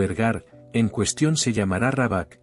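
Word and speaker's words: Råbäck: La casa solariega, o ergar, en cuestión se llamará Rabak, se pronuncia algo así como Roebek, aunque ese no es su nombre.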